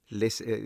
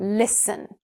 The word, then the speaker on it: listen: Listen you see the T and you're like, why not? Drop the T sound. fasten fasten listen listen See how much smoother that feels?